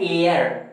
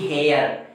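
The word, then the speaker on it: heir: इसी तरह जरा एक और ध्यान दिया जाए, एच ई आई आर, इसको हम कहते हैं एयर, न कि हेयर।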